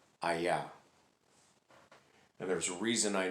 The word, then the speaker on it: Hayah: that is the true name of god as given to moses and it is pronounced aya and there's a reason i know that because